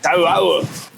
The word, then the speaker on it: Toau: You have to pronounce every vowel in the name. So it's T-O-U-A-O-U. Ha-U-A-O-U. That's exactly how you pronounce it. Toau.